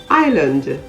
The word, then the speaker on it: island: psychic silent s words i'll a-i-s-l-e debris d-e-b-r-i-s island i-s-l-a-n-d il i-s-l-e you would note that we